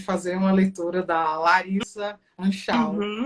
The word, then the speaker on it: Anschau: E como pronuncia seu outro nome? É Anschau.